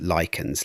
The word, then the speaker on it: lichens: Those black spots, those lichens, and yes, it is pronounced lichens, let us get that right from the start, they are actually eating the stone.